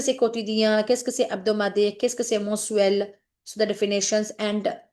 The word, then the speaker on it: hebdomadaire: It's not habdo. Okay, please be careful. It's hebdomadaire. H is silent.